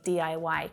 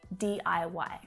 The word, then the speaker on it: DIY: you've picked up that the way that we say this word is by spelling out the letters d i y d-i-y so are you into